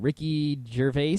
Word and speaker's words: Gervais: I don't know a lot about him, but apparently he's a funny, famous British guy called Ricky Gervais, I think is the correct pronunciation.